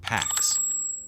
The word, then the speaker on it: P4X: He adopts the pseudonym P4X, pronounced PAX, a cheeky reference to enforcing peace through punishment.